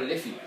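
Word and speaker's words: Liffey: the river that cuts City it's the river liy liy yeah now it's spelled Li FF y s is pronounced liy but it's actually um it was it was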